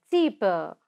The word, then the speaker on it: cheaper: This one is yes, cheaper, not R. Okay, the last R is raw sound is silent. So say cheaper.